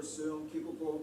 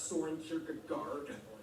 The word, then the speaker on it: Søren Kierkegaard: Hans Christian Andersen, philosopher Søren Kierkegaard, or whether, that's actually how you pronounce his name. Wow. It's not Soren Kierkegaard, or whether it be